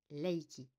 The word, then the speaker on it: Reiki: signifie énergie vitale d'ailleurs en japonais Reiki ne se prononce pas avec le r il se prononce Laiki le requi est donc